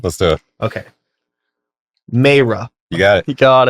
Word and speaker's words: Mayreh: Mayreh. You got it. You got it. Boom! Yes. We're fucking done, baby. Woo! All right. You might be the first one to get it. Welcome to the show, Mayreh.